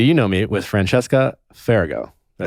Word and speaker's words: Farago: those things where it's it's pronounced just the way it's spelled yeah some people say like fargo or some people even say ferragamo i'm like where did